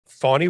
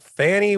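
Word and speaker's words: Fani: about her so long we finally figured out how to pronounce her name because in the beginning it was like fannie willis in fulton count like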